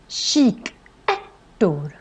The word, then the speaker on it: kikärtor: So it's sh sound at the beginning and then a k sound in the end. So that's why it's called kikärtor.